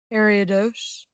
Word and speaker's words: Ariados: for this so so spinarak evolves into what ariados alright that's how they said it in the anime did I make a